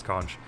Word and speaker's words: conch: the pronunciation is, and apparently the proper American pronunciation is conch, but the proper British pronunciation is conch. So they're both viable, but I didn't realize it was culturally divided, which is kind of weird.